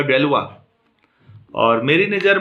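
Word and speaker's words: Galois: तो महान French mathematician, और जिनको हम ये स्पेलिंग जो भी हो प्लीज़ इनका प्रोनाउंसिएशन ये होगा डेलवा, और मेरी नज़र में वन ऑफ the best mathematician है।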